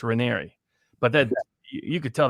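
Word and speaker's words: Raniere: apparently by the way his name is pronunciated like canary so it's rainery but that you could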